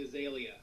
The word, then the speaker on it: Azalea: The Azalea.